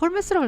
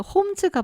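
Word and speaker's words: Holmes: 그래서 제가 이 이름을 계속 홀메스라고 읽었는데 가만 생각해 보니까 이거 L이 왠지 무음일 것 같아요. 그래서 홈즈가 맞을 것 같거든요.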